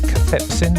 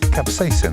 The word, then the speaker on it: capsaicin: heat well a seeds by um is it cathepsin is that right the hot ingredient maurice corrected my pronunciation the other day i put ingredients attack